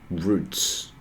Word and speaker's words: route: so I'm going to get the routes or routs um I know how to how to how to pronounce it this a root or route uh let's check that okay so root pronunciation Roots okay it sounds like Roots okay sorry uh it's